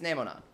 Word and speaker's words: Nemona: knew it yeah no I'm pronouncing it correctly guys it's nemona if you want to insist that it's something else and that's fine but nah is a completely different syllable bro and no is not a thing in Japanese it's either net or not her name is going